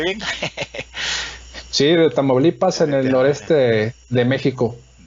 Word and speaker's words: Tamaulipas: ¿Cómo lo pronuncié bien? Sí, de Tamaulipas, en el noreste de México.